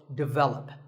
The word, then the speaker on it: develop: But the first syllable is actually de, and the stress is on the second syllable, so develop.